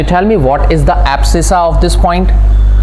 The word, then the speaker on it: abscissa: It's pronounced as abscissa.